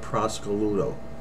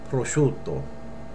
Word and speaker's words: prosciutto: market and she said give me a half a pound of Prosecco Ludo you will never say that you'll say prosciutto okay we'll say it correctly and you won't look